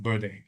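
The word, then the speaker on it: verde: So green, everybody understands, and then green in Spanish is VERD, but it's actually pronounced Berde, right?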